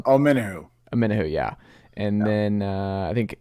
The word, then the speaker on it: Omenihu: How do you pronounce his name? Omeniu? I'm not sure how to pronounce his name. Got Charles 1. Omenihu, yeah.